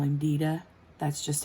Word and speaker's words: Dieter: his name is dieter but we call him dida that's just how because that's how he pronounces it so that's how we pronounce it